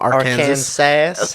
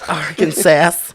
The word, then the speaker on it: Arkansas: do you say that is this arkansas arkansas arkansas okay it's not art sass arkansas 400 000 live viewers